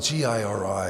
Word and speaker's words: giri: thing called, it's spelled G-I-R-I, and it's either pronounced Giri or Jiri. I pronounce it Jiri, but it may be Giri.